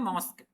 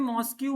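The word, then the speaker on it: mosque: और मैंने एक प्रोनाउंसिएशन मिस्टेक बताया तुमको, मॉस्क क्या होता है, मॉस्क, लेकिन तुम उसको रिकॉर्डिंग में मॉस्क्यू मॉस्क्यू बोल रहे हो हरदम।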